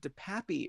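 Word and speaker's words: DePape: minors says he knows Paul Pelosi attacker David de Papi apparently that's the way he say his name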